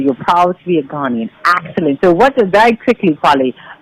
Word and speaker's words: Ghanaian: And I was going to ask you, how is it pronounced? So if you're from Ghana, you are what is it? A Ghanaian?